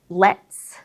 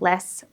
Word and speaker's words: lets: Many English learners just completely drop the T, just because it's easier to do that than trying to combine the two sounds to make that cluster sound. So it does make words, like I said before, let's sound like less, what's sound like was, cats can sometimes sound like cats.